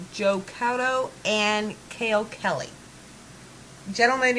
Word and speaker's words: Couto: Well, it's C-O-U, it's O-U-T, it's Couto.